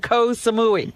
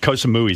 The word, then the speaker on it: Koh Samui: Koh Samui sounds like death. Baba Booey. Koh Samui rhymes with Baba Booey.